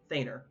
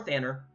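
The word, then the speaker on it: Thanur: feigner is the days t-h-a-n-u-r thaner or thanor the pronunciation is argued throughout the world but yeah uh it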